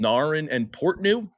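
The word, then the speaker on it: Narin and Portnoo: Then we're continuing up and we're going to, I believe the course is called Narin and Portnew. That's how it's pronounced.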